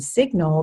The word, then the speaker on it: signal: in related words like signature and signal the G is not silent it's also not always